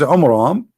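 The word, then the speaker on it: Amram: the father of Moses which is AMRAAM not our own am wrong wrong pronouncation wrong name I mean have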